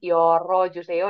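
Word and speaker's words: 열어 주세요: Nah, karena bukan jadi kita tambahin O. Yol, o, joseo. Dibacanya yoro joseo ya di sini jadinya yoro, joseo yolta ini artinya membuk.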